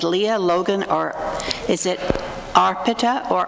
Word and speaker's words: Arpita: I'm not sure who goes first, but is it Leah, Logan, or is it Arpita or Arpita? It's pronounced Arpita, and I'll be starting.